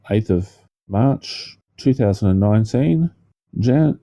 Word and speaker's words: Jan: talking the same name well officially it's Jan that's no well everyone else it's always Yan oh yeah but CU it's like je Jean C vanam Yan there's plenty of it's It's a why pronunciation normally for that name for men so yeah the Americans called it Jan Michael Vincent um American